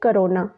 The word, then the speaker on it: krona: तो स्वीडन की कैपिटल है स्टॉकहोम और स्वीडन की करेंसी है करोना। तो ये जो करेंसी है इनकी, इसकी स्पेलिंग ये है KRONA।